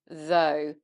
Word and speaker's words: though: There, the GH is silent on all those words.